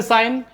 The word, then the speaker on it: sign: G साइलेंट। SIGN, English में साइन, Hindi में साइन यानी चिन्ह या निशान।